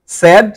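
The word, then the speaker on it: said: কিন্তু স্যাড স্যাড বলছি সেইড সেইড না এটা সেইড হবে না পাস্ট ফর্মটা এবং পাস্ট পার্টিসিপল ফর্মটা এটা হবে স্যাড যদিও বানানটা সেইড কিন্তু উচ্চারণটা হবে স্যাড স্যাড স্যাড সেই এটাকে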